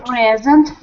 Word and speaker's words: present: second cable good the present on the first cable and in the present time it's the first Sy very good so the stress falls on the first syllable on the last two